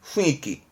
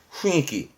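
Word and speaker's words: 雰囲気: 참 좋죠 분위기 했습니다 발음은 후니키 훈이끼 그러니까 주위에 분위기를 말하는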